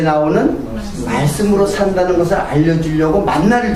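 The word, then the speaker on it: מן: 그게 원래 그 히브리 말로는 그냥 만이에요. 만 발음으로 하면 만이에요. 만. 네? 만나가 히브리 발음으로 만이야. 만. 내가 우리 예전교에서도 얘기했는데 그 이름이 만이야. 한 글자야. 그 발음이 하나야.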